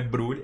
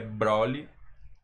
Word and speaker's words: Broly: E o povo tava enchendo o saco, falando que não é Brulli, é Broly.